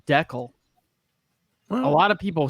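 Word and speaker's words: Dekal: I pronounce it DeCal, but I think it's Deckel.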